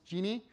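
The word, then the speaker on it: Djinni: It's pronounced Genie. This is just an alternative transliteration of the same word.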